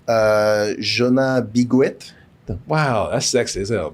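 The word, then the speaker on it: Jonas Bloquet: Jonas Biguet.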